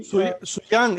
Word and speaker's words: Xuyang: Xuyang is correct, my pronunciation. Xuyang or not? Yeah, it's actually, that's how you pronounce it.